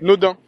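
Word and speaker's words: Naudin: aussi je vais passer par la rue Nodin c'est tripe euh bon ça s'écrit avec un a c'est N a u d a i n mais ça tripe quand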